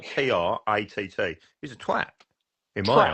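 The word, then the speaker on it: Tratt: I can pronounce my R's, but how would you pronounce somebody spelled T-R-A-T-T? He's a twat, in my eyes. Trout. Yeah. You're such a southern. No, it's not trout. It's T-R-A-T-T. Trat.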